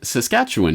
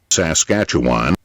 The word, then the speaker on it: Saskatchewan: he was born in Saskatchewan in 1947 or as the Americans insist on pronouncing it Saskatchewan he uh grew up